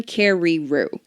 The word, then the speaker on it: John Carreyrou: But he knew John Carreyrou at the John Carreyrou.